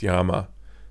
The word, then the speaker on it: llama: way that llamas belt in Spanish that would be pronounced Yama so I don't know